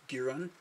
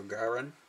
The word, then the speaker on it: Giran: So what's interesting is these guys, this is Giran, or Garan as he's pronounced, are called Niktos.